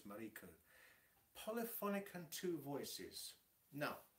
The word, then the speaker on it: Mariko: It's not Marco, it's Mariko.